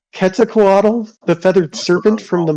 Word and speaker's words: Quetzalcoatl: The TL, you're supposed to like a weird like sound.